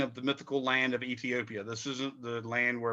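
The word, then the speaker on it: Aethiopia: And it's spelled like A-E. That first letter is actually a diphthong. So it's Ethiopia.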